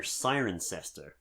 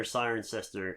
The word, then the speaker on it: Cirencester: be specific, we're in a small village near Cirencester, which I really had to, because it's spelled Kirkenkester. So, get involved. Who said English wasn't an easy language? So small village near Cirencester in England.